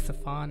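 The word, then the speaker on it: Sophon: okay so let's get started my name is safan if you haven't noticed yet it's spelled s o p h o n uh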